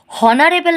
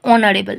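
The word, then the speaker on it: honorable: উচ্চারণের সময় এটাকে আমরা হনারেবল না বলে থাকি অনারেবল অর্থাৎ এইচ এর উচ্চারণটা এখানে হয় না এইচ টা সাইলেন্ট থাকে সেই কারণে আমরা ও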